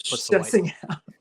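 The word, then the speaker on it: Plitzuweit: I don't know if maybe there's film of me like realizing it's Plitzowite.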